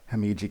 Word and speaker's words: Himeji: to pronounce it but i believe it's pronounced the hamidji castle nevertheless this is absolutely